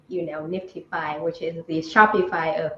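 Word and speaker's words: NFTify: call nft right this the spelling is nft i f y uh but then you know we say Nifty five even though I know that there's some other projects that you know maybe uh pronunciated but very similarly but you know um usually say it as Nifty five so that's really interesting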